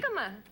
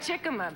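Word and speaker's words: jícama: Hikma. Yeah. Hikma. I'm not It's spelled with a J. Okay. It looks like Chikima, but So, why don't you get the crude?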